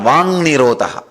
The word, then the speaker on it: Vak Nirodha: That is what is called Vang Nirodha. Vak Nirodha only, when you pronounce it becomes Vang Nirodha.